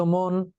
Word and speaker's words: মন: দেখো শব্দ মন, এই যে ম আর ন, এখানে একটা ইউনিট, একটাই অক্ষর মন, মন ও দুটো তো হচ্ছে না, আমরা উচ্চারণ করছি মন, তার মানে একটা সিলেবাল, একটি অক্ষর, এবং এই অক্ষরের শেষে কি আছে? ন আছে। অতএব এক অক্ষর শব্দের শেষে ন থাকলে আদ্য অটা ও হয়ে যাবে।